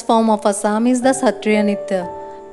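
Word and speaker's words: Sattriya: The classical dance form of Assam is the Satriya Nitya, pronounced as Hatriya Nitya in Assamese, which represents the Satriya culture, the basis of the religious and cultural fabric of Assam.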